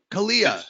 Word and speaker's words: Kalia: I have a daughter saying, I think Kaylee's 5, right? Kalia. Sorry about that. It's spelled unique. So yeah, she gets Kaylee all the time.